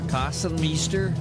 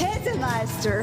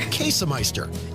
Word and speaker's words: Käsemeister: Kassenmeister, Kassenmaster, Kassenmeiser. It's Käsemeister. Käsemeister.